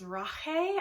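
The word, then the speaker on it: Rache: Written in Blood is Rahe I think that's how you pronounce it because I think this it's coming from the German pronunciation in here which means Revenge so very intriguing already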